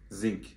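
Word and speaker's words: Xing: X-I-N-G Zing. Zing var.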